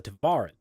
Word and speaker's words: Tevarin: as adapt fighters or cultural clarification is pronounced the tavaran okay we'll step up